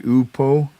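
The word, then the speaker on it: οὔπω: They're saying the pronunciation would be upo.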